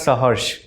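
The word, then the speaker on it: Saharsh: So, it's pronounced as sah. Sah. Yes sir. It's got meaning. So, sah is with hush or with happiness with happiness.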